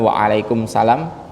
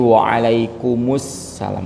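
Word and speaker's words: وعليكم السلام: begitu juga Waalaikumussalam ya jadi bacanya itu bukan Waalaikumsalam tapi waalaikumusalam adamunya sebenarnya itu nanti pengaruhnya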